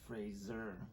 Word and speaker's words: Fraser: Fraser I love him and it's Fraser yeah yeah he says that and he says he never corrects people yeah when they say it wrong yeah fine which is